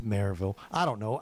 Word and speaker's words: Maryville: No, it's Maryville.